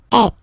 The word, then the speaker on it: êtes: Vous êtes. Same thing here. Notice that final S is not pronounced.